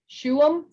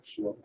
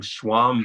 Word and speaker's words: Shuam: How did you pronounce his name, Sarah? Shuam. Is that right, James? That sounds right to me, yeah. Shuam. Okay, because I've been calling him Schwam the whole time.